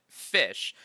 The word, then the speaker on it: Ghoti: we're talking about GOI so GOI or how you could also pronounce it fish was an archetype that